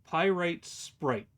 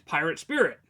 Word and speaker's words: Pyrite Sprite: I've been probably saying your name, so Pyrite Sprite. Is it Pyrite Sprite? Because I was like, it's Pirate Spirit. Pyrite Sprite. Okay. I have been saying it wrong. I thought it was Pirate Spirit.